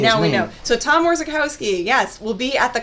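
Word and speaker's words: Orzechowski: last name we didn't know how it was pronounced back then now I know how to say it yeah we know so Tom orzikowski yes we'll be at the Comic-Con on Sunday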